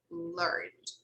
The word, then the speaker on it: learned: Okay, we do not pronounce the vowel E in number 1 as well. Okay, guys, we don't pronounce either. Actually, we don't pronounce the vowel E in number 1 either. Okay, we say learned, learned. Okay, we go from N to D.